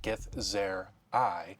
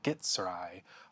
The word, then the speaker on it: Githzerai: The Githzerai pronounced Gith-Zer-y or Gith-Sir-eye a humanoid race that resides primarily in the Plain of Limbo.